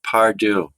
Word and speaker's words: Pardue: Você pronunciou bem em francês, que eu até gosto, prefiro, mas como eu sou norte-americano, eles falam Pardue.